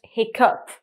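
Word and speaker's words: hiccough: It's spelled with G-H, and it's still pronounced hiccup.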